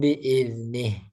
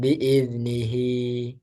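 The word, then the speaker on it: بإذنه: disambung bacanya ya Nah kalau berhenti dia enggak muncul lagi madnya illa biidnih Nah jadi sukun bukan biidnihi salah tapi biidnih gitu ya Nah berarti dia kebalikannya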